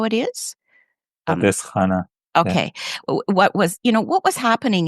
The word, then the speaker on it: Pardis Hana: And I don't know how to pronounce this, but Pardis Hana, is that how it is? Pardis Hana.